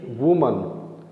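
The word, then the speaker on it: women: ऐसी वुमन, वीमन, pronunciation में भी अंतर, वुमन WOMAN प्लूरल वीमन।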